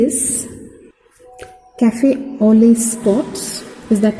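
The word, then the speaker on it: café au lait: is and what are these so e is cafe only spots is that how it is pronounced and these are some subcutaneous nodules so this is neurofibromatosis very good caffe olio spot subcutaneous nodules remember this is an autosomal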